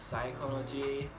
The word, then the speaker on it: psychology: next the letter P the letter P can also be silent with the words like psychology lucid or cycle and